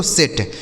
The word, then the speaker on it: set: ठीक है, जैसे यस से हो गया आपका ट स और टी से हो गया ट, इस ई का उच्चारण एक ही मात्रा, इसे पढ़ा जाएगा दोस्तों सेट।